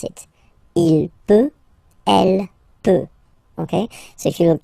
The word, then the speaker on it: peux: Final X not pronounced here, okay? So you get X, but you don't pronounce it, so basically you get the sound peu, je peux, okay, so I can, je peux, okay? Then tu peux, same pronunciation and same spelling or writing, okay? P-E-U-X, okay, don't pronounce the final X.